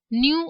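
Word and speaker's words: ν: Degree of freedom जो है न्यू, जो कि इक्वल होता है n-1, इसको न्यू प्रोनाउंस करेंगे और ये इक्वल होता है n-1।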